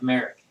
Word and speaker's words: Merik: Merik. Merik. So I'm guessing they're from our ship. Rhymes with cleric.